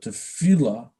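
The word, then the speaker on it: tefillah: which would mean prayer pronounced as you see here - fela so we translated in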